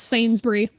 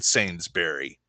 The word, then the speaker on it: Sainsbury: uk people murder euclides it's sainsbury i don't care i'm from salisbury so i'm going to pronounce the hard berry in sainsbury british people aren't real